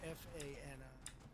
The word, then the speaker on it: Fani: She goes by the name of Fani, even though it's F-A-N-I. She wants it pronounced Fani.